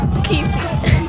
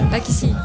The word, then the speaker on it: Pakisi: Pakisi, I love you, bro. Casey. Is that how you say it? No. Pakisi. Pakisi. Pakisi, I have to say it with the French accent.